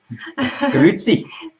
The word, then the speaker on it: Grüezi: Grüezi.